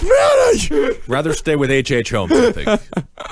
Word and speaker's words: Minnie: It rhymes with Winnie! It's M-I-N-N-I! It's Minnie!